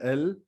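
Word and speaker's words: elles: is nu for v next we have ill and l again the s is not being pronounced and it is sounding same as the singular ill l which we said for he and she and also we notice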